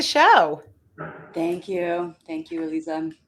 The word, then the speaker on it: Eliza: Thank you, Eliza. Is it Eliza or yes, it's Yes, Eliza. There's Elisa, only one way to and pronounce Eliza.